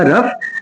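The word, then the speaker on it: rough: इसका प्रोनाउंसिएशन होगा रफ।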